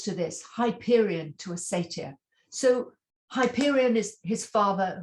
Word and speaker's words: satyr: to tell you, most satyrs, the American pronunciation is satyrs, but I want to say satyr because that's how we say it in England.